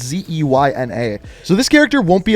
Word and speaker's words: Zeyna: The second character is called Xenia. I don't know how to say it properly. It's Zeyna.